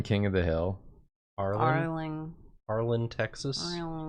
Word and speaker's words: Arlen: Arlen, Texas. How you spell that? ARLEN. Texas. Okay, because I want to put it on the shirt. It's a fake town. It's Arlington. It's not. But it's Arlen. But it's Arlen.